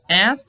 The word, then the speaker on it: asked: Make sure that asked is pronounced like this. Asked. Okay? The K is pronounced usually, but it's pronounced really, really smoothly.